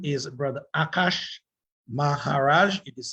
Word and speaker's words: Akaash: His name is Brother Akash Maharaj. It is spelled A-K-A-A-S-H, that is Akash.